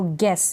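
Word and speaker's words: guess: स्वर है ई है ई स्वर है तो गेस यहां पर जी यू को हम पढ़ रहे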